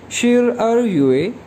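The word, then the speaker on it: 十二月: तो 12वां महीना यानी दिसंबर चाइनीज़ में कैसे प्रोनाउंस करेंगे शिर अर युए, शिर अर युए, शिर अर युए।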